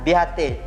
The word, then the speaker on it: beatae: Atau contoh lain, dalam video juga ada disebut beatae. Salah bacanya beate.